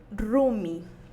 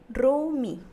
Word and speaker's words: rumi: ejemplo tenemos piedra piedra que se escribe y se pronuncia rumí rumí bien es una pronunciación de la vocal breve rumi rumi bien como siguiente